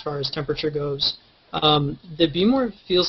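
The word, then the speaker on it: Behmor: It's pronounced B-more, which is the weirdest thing in the world.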